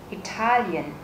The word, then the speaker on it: Italian: Trọng âm rơi vào chữ A nên chúng ta sẽ nhấn mạnh chữ A. Italian.